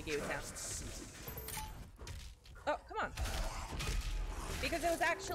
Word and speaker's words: guillotine: Lyra, how do you pronounce guillotine in French? Guillotine. Is my time. Oh, sorry, actually. Let's see if you're strong. Yeah, actually it is actually guillotine.